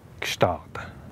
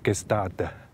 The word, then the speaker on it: Gstaad: Gstaad. Oui, il y en a beaucoup qui prononcent mal. Oui. Gstaad. Gstaad.